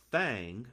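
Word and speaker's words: Thang: He proposed meaning the finance minister named Prime Minister Fang. Yeah, it's spelled T H A N G.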